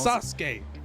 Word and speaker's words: Sasuke: They always pronounce the U, even though the U is silent. It's not that, it's Sasuke.